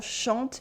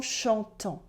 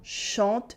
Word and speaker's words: chantent: But then the whole ENT part at the end of the verb, as you might have noticed, is silent. We say les enfants chantent, not les enfants chantants. Les enfants chantent, for the children are singing.